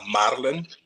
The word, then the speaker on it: Madeline: Got to roll that R. Madeline.